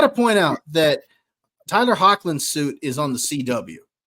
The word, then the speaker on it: Hoechlin: trilogy, and then you see how do you pronounce his last name, Josh? Tyler Hoechlin? Is it Hoechlin?